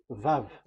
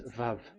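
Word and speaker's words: ו: So the word, the shape Vav is really pronounced V, like Vogue.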